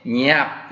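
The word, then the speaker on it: ញាប់: 네, 냐압. 여기 혀가 아래쪽에 붙는 거 주의해 주셔야 되고요.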